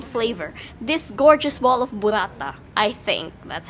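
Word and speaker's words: burrata: This gorgeous ball of burata. I think that's how it's pronounced. It's pronounced burata. Burata. Burata.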